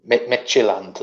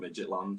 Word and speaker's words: Midtjylland: Yeah, Midtjylland. I think that's how you pronounce it. I've been calling them Midgetland just to bypass it.